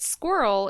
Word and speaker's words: squirrel: could be included but squirrel is intended to be pronounced as two syllables squirrel according to most dictionaries daddy i want to